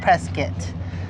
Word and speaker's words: Prescott: at Heart oh pres oh preset that's how it's pronounced we call it preset a bunch of signs